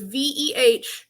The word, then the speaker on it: Wehiwa: So if you take his name, it's Wehiwa. Replace both W's with V's. So it's Vehiva.